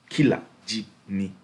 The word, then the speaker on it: Killer Jimmy: Killer Jimmy. And if you really seen SHATTA's cover for Killer Jimmy, the words are separated so that you can pronounce it properly.